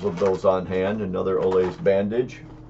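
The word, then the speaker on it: Olaes: And again, it's Olays, which is spelled O-L-A-E-S, modular bandage, 6-inch.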